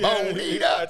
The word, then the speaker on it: Bonita: Bonita.